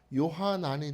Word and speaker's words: 요하난: 그 요한은 힐라어 말고 히브리어로 이걸 발음하면 요하난이 돼요.